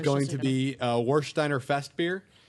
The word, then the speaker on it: Warsteiner: popping a boner over it, It's guys, going just to so be Warsteiner Fest beer.